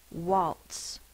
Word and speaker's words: waltz: next sound is all an a followed by an l or even a silent l says the o sound so it's spell with an a but it says ah like a a w or short o r sound okay ah uh waltz